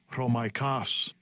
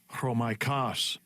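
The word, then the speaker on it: Ῥωμαϊκός: This is the pronunciation. Strong's G 4513. Chromaikos. Chromaikos. Chromaikos occurs only one time, and it is in that verse.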